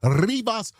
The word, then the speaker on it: Rivas: What I heard when I first started covering this case was that her name was Celeste Rivas Hernandez. And we like to roll our R's when we say her name.